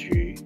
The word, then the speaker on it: 魚: Fish, pronounced yu, makes it a homophone for surpluses, and is often eaten or just even displayed and saved for the day after.